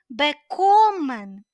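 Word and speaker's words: bekommen: beomen beomen означає одержувати зверніть увагу префікс невіідокремлюваний він не наголошений на нього наголос не падає наголос падає на другий склад після префікса в даному випадку ми кажемо бекомен чи всі знаєте дієслово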